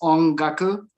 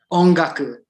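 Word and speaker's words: 音楽: Ongaku, that's music. So sound is on, which sounds like om, right?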